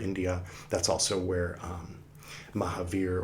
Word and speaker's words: Mahavira: that's also where um Mahavir or Mahaviraa if you pronounce the A usually they don't pronounce the A at the ends of things here um of Sanskrit uh things here.